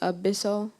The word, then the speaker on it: abyssal: Abyssal treasure in the Caribbean Abyssal am I pronouncing the word correctly when I say Abyssal Abyssal a b y s s a l